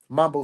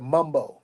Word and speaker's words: Mumbo: come get the original Mambo sauce from out here and that's I'm not even saying it right because if you from out here they call it Mumbo you know what I'm